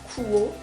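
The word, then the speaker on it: Quo: H que j'ai moi c'est la marque o je pense pense que c'est comme ça qu'on prononce Q u o Coo en tout cas et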